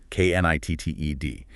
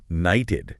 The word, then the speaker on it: knitted: If you just wrote knighted, K-N-I-T-E-D, it might look like it rhymes with lighted, which isn't right. I see. So knitted keeps the short I sound.